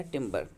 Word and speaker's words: timbre: ये कैसे आपको पता चलता है, आपको कि क्वालिटी या टिम्बर, टी आई यहाँ स्पेलिंग है TIMBRE, ठीक है।